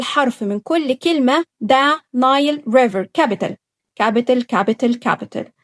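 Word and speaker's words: Nile: ازاي ذا كلمه لوحدها نايل لقيت الماجيك اي هتقول الاي سي يور نيم قول اسمك يبقى الاي اتنطقت زي اسمها بالضبط وهتتكتب اي بس نايل نايل طيب كلمه ريفر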